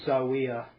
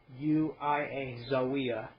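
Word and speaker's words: Zaouia: I'm going to just say Zawiya. It's spelled Z-A-O-U-I-A, Zawiya.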